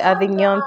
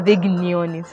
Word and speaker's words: Avignon: i guess from the avignon family i even got the exp now avignon it's not a big neon it's a silent g and you realize and